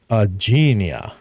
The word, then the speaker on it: Aegeania: How do you pronounce the name of your park? My park name is Aegeania. Aegeania.